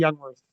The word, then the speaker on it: Jungwirth: your last name cal It's actually youngworth youngworth I thought so